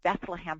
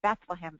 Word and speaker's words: Bethlehem: If you're a British person with a heavy accent and you say Bethlehem fast, it sounds like the word bedlam, and the word bedlam